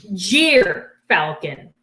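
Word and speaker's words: gyrfalcon: excited all right so this is called a jeer falcon that's spelled g-y-r and they live in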